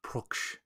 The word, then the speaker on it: Pruksch: interviews and he said it sounds like book, like it's got a ook sound with a pr and a k at the end. Pruksch.